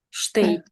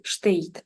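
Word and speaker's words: steht: тут буде які варіанти штейт штейт х там оцей не читається на його місці читається звук й штейт штейт нуже в землі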